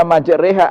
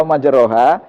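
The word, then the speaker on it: مجراها: kekasih ke kasrah nah catatan kalimat majroha ini yang membaca imalah hanya Imam azim imam yang lain membacanya tetap majrooh majroha nah tapi masalahnya begini kita membaca majreha atau majroha itu berdasarkan ilmu apa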